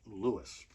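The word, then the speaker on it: Lewes: pronounced that way in that town it is pronounced Louis so Nicholas Sparks got a pile here somewhere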